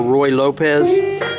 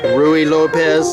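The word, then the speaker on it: Ruy Lopez: c80 is out of the spanish or roy lopez rui lopez some people pronounce it this is that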